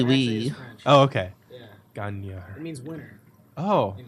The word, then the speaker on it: Gagner: about local vinyl enthusiast John Gagner about the changing You say his name wrong all the time. Gagner. How do you say it correctly? Gagner. Gagner. It's more French sounding.